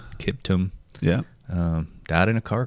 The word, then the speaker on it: Kiptum: Kelvin Kipton. Is that how you say his name? Kiptum.